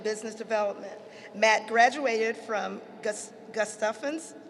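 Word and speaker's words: Gustavus: provider relationships and Business Development Matt graduated from gustafins how do we pronounce it gestavens thank you Adolphus College with a double major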